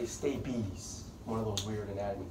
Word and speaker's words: stapes: things called stinky stabies spelled stapes don't say stapes say stay peace one of those weird